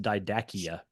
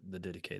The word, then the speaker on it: Didache: If anybody comes across that word, it looks like it's pronounced didakia.